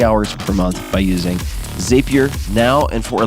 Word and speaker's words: Zapier: It's pronounced Zapier, like happier.